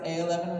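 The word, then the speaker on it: a11y: repository if you didn't know this is usually pronounced of a eleven right and it is a shortened version kind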